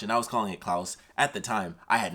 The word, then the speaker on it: Klaus: it's about Santa Claus the guy's name was actually pronounced as Klaus but it was a